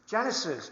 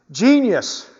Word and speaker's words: Genius: Genesis, or not Genesis. I pronounce this name wrong so many times. Genius.